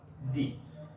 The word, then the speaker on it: the: এখানে দেয়া আছে যখন কোনো বাক্যে THE এর পরের শব্দটির প্রথম বর্ণ কনসোনেন্ট হয়, সেই সময় THE এর উচ্চারণ হবে দা।